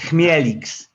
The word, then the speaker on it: Chmielix: know how you say chemilex tell me i'm saying it right or wrong tell me how to say let them hear it again you told me yeah it's close enough man it's melix that's a good name